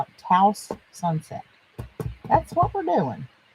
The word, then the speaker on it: Taos: We're going to use this, the Taos, like I used to say, but it supposedly rhymes with blouse. So we're going to call it Taos Sunset.